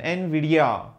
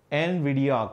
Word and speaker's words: Nvidia: v d e a just go with the pronounciation Nvidia Nvidia current is NVIDIA that's it that's very easy